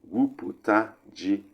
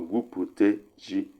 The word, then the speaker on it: gwuputa ji: And we have gwuputa ji. Listen to the pronunciation. Gwuputa ji or gwupute ji.